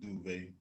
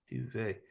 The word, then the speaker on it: Duvay: sir say hi yeah it's almost like two syllables duvet duvet that's like some smooth silk i love it and